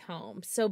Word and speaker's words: Holmes: Elizabeth Holmes home that's I was like wait homes home yeah that's how you say it it's just weird yeah